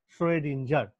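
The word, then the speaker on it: Schrödinger: এই জিনিসটা করতে গিয়ে এইবারই কিন্তু যে লোকটার নাম চলে আসলো সেটা হচ্ছে শ্রোডিঞ্জার। এই ও এর মাথায় ডবল ডট দিচ্ছি, উচ্চারণটা হচ্ছে ও এ, শ্রোডিঞ্জার।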